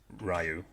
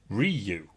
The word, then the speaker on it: Ryu: we have damon chapper not being able to pronounce the name ryu or ryu he calls it riyu i think there was